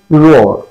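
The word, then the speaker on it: roar: আর রোয়ার বলি গর্জন করা রোয়ার কিন্তু এর উচ্চারণ আছে রোর রোর রোর নট রোয়ার রোর ওকে পরবর্তী শব্দ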